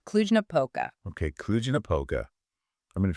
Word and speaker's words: Cluj-Napoca: It's pronounced Cluj-Napoca.